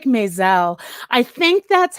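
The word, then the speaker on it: Maas: Oh, like mess. Right, exactly. M-A-A-S. Oh, interesting.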